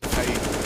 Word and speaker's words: paiN: No, it's pronounced paiN, actually, Hugo. Nice try, though. I could see the confusion. The logo does kind of have a certain shh sound to it, doesn't it?